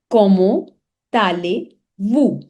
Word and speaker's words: Comment allez-vous: So this T has to be linked with A and give a linking sound of tale.